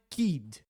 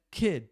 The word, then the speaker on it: kid: Já palavras como kid tem um i curto, não é kid, é kid. Parece mais um e de elefante.